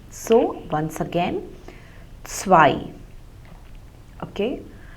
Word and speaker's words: zwei: Now the German consonant Z is pronounced like TS. Okay, like we pronounce it in English word like mats or bats. So if you hear the word s, so that is the pronunciation.